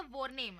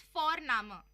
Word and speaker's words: Vorname: और हम यहाँ पे फोरनामा प्रोनाउंस करते हैं बट लिखते हैं उसको VORNAME। ओके, तो वो हम इंग्लिश के अनुसार प्रोनाउंस करेंगे तो बनेगा वॉरनेम, बट नो, इट्स फोरनामा।